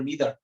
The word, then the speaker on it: neither: ইদার এটা কিন্তু দুইজন ব্রিটিশ আমেরিকান দুইজন দুইভাবে উচ্চারণ করে একজন বলে ইদার একজন বলে আইদার একজন বলে নাইদার একজন বলে নিদার আইদার অফ the graduates has interest on Bangladesh